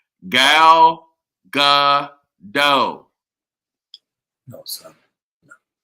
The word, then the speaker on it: Gal Gadot: It is pronounced Gal Gadot. No, son. No. Gal Gadot.